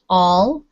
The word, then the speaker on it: all: okay good um jesus this word is all it does not have a ha sound at the beginning okay it's just all